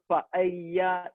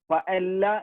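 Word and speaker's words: pollo: എല്ലിന്റെ കൂടെ വേറൊരു എല്ലും കൂടെ വന്നു കഴിഞ്ഞാൽ സ്പാനിഷിൽ അതിന്റെ ഉച്ചാരണം മാറും, യ് സൗണ്ട് ആവും. ഫോർ എക്സാമ്പിൾ ഞാൻ അവിടെ പയ്യ ദെ പൊയ്യോ, പല്ല എന്നാണ് നമ്മൾ ശരിക്കും ഇംഗ്ലീഷിൽ അത് വായിക്കുക, പൊല്ലോ എന്നാണ് ഇംഗ്ലീഷിൽ അതും വായിക്കുക.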